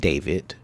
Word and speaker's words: D4VD: apparently well-known streaming artist named David, which is spelled D4VD.